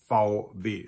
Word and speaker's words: VW: Now, as you already noticed, those two letters are pronounced very differently in German. So in English, we have VW. In German, we have VW.